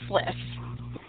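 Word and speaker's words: SLIS: how you pronounce that we pronounce it as sliff so would you want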